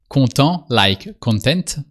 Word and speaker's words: content: You seem happy to content with a silent t in French and more common in French.